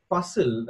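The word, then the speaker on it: Fussell: pattern underlies the Hobbit as well so Henry puzzle at the thing that's how you pronounce his name fu SS e ll has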